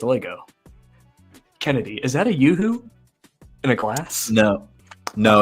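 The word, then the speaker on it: UHU: But it's spelled just U-H-U. How's it spelled? I don't even remember. Yoo-hoo? Y-O-H-O-O? Yeah, like yoo-hoo.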